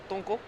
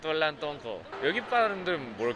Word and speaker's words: Tolantongo: 'Tongo'? (Younger sister) 'Tolantongo'! Awesome! What is the pronunciation here?